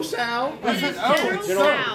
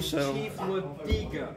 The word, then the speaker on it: Tso: I was pronouncing it in General Sal. So. The biggest, why do you say Sal? Because I thought that's how it's pronounced. I'm not Chinese. I pronounce it in General Tso. Tso? Tso. Tso personally. No, it's General Tso.